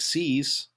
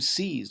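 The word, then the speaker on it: seise: He became seized of half a section of farmland near Amarillo. So, we have seize s e i s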